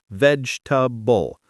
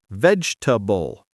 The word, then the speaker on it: vegetable: Many learners say vegetable with four syllables, vegetable. But in English, we say vegetable, only three, short and smooth.